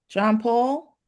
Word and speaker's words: John Paul: Commissioner John Paul. Am I pronouncing it correctly?